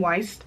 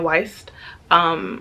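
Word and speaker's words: Wiest: I think that's how you say her name, Weist. Brianna Weist.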